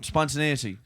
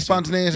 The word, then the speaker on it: spontaneity: Yeah, naity, not newity. No, spontaneity. Definitely spontaneity.